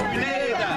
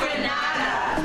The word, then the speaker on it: Grenada: But I heard in English it's called Grenada. Say it right. Grenada. Say it right. Grenada. That's right. Grenada. There we go. Say it right. It's Grenada. It's not Grenada. It's Grenada.